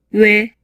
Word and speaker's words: ㅚ: It's said that a monophthong doesn't change the shape of the lips or the tongue position, but the shape of the lips changes in this video.